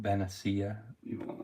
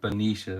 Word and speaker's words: Benicia: is called Benicia Benicia I've heard people call it beneficia Benicia is the way you pronounce it oh you are